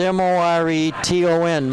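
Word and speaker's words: Moreton: 6-6 pulls down the rebound his last name is spelled m-o-r-e-t-o-n more ton 40-32 stone hill 203 left in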